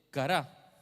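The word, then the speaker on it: קרא: La palabra es cará, así como si fuera cara, pero con un acento en la A al final.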